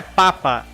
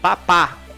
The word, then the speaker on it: Papa: lima mike november óscar papá ou seja não é papa é papá aqui a pronúncia no manual já fala onde que é a palavra tônica ou sílaba tônica quebec ufa perdão romeu